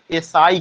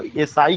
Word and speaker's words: essai: और मॉन्टेन ने जो एसे लिखा उसको फ्रेंच में एसाई कहा गया। समवेयर यू फाइंड उसका स्पेलिंग होता है ASSAI, कहीं कहीं पे उसका स्पेलिंग क्या मिलेगा?